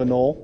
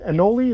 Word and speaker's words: anole: am i saying right is it a knoll right anoli no some people you never know how to say it but i always say a null uh the are these